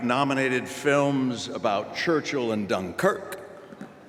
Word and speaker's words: Dunkirk: films about Churchill and Dunkirk accent on the second syllable which makes me wonder